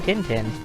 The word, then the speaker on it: Tintin: going to mention that the French pronunciation of Tintin doesn't really matter overly much in places that are not either France or French kanika French Canada because he has been sort of given English translations and they all pronounce his name dindin and suddenly we have